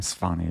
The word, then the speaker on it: Svane: I think previously I've said Svane, but I'm pretty sure Svane is a more correct pronunciation.